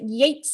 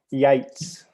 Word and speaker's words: Yeats: Is it Yeats Street, Michael? Yeah, Yates. Yates Street. Yeah, so it's spelt the same as the poet, but pronounced the same as the gardening seeds.